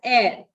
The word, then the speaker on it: heir: Here in the second word, H-E-I-R, H is silent, okay? So it's pronounced as air, E-I-R.